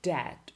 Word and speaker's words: debt: These letters are simply not pronounced. They are written in a word, but you don't pronounce them. Silent B. Bomb, climb, or debt or doubt, or comb or tomb.